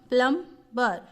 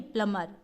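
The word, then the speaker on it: plumber: जैसे PLU, प्लम, प्लम्बर, प्लम्बर नहीं है, प्लमर, प्लमर, मर, प्लमर, क्या पढ़ेंगे इसको, प्लम्बर नहीं, प्लमर, प्लमर, क्या पढ़ते हैं, प्लमर, ठीक है।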